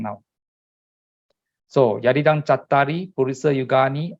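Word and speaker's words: cattāri: Now, Pali, you must also note, Chattari, you pronounce as, although it is Cattari, you pronounce the Cat first. When there are 2 T's, you pronounce the first T, up to the first T first, Chat. And then the next syllable is called Tari. Okay, Chattari. Purisa Yugani, Atta, the A-T-T-H-A,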